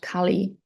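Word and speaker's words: Kali: this demon is called Khali um not to not to mix up with Khali with a long e um so the demon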